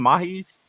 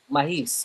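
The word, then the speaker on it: Maahes: Aka how you pronounce his name? Mahis. Mahis.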